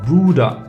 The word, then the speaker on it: Bruder: So B, and the word is Bruder. It's pronounced the same way in English if you use it in a word, but separately it's B.